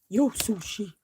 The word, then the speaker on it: Yo Sushi: yo sushi you gotta say it like that yo sushi and we enjoyed some nice sushi and some